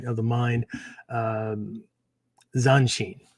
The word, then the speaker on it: Zanshin: of the mind, um, Zanshin. Right, and again, as I spelled it earlier on, right, it's not. I'm not saying Sanshin. Right? Zanshin, Zanshin.